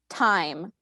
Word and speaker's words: thyme: Thyme. Can you give, are there any alternate pronunciations? Yes. Thyme. Time.